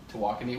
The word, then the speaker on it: Tawakoni: Here's the way to do it: to walk on knee. To walk on knee. Tawakoni.